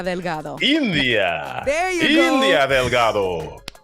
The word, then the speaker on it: India: India. There you go. India Delgado. Yes. Siempre el primero. Okay. There you go. Yeah. Yeah. That's how you say it. You gotta say it, with the Spanish accent.